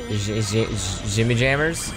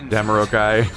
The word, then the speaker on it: Jamiroquai: Oh, How do you pronounce that band's name? Jimmy Jammers? Do you know who I'm talking about, right? Yeah. Like who the fuck knows? Jamiroquai.